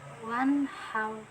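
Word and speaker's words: وَانْحَرْ: Liorabika wanhaw. Nah, di sini ada hukum bacaan ijhar halqi. Kenapa? Ketika ada nun mati bertemu salah satu huruf ijhar halqi yaitu ha, jadi cara bacanya ijhar, yaitu jelas wan how.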